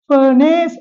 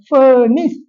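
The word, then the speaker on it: furnace: அடுத்ததாக பாருங்கள் ஏ வருகிறது ஆனால் இந்த ஐந்து சொற்களிலும் வருகின்ற ஏக்கு இ உச்சரிப்பு தான் வரும் ஃபர்னேஸ் அல்ல பர்னிஸ் லக்கேஜ் அல்ல லக்கேஜ் பெக்கேஜ்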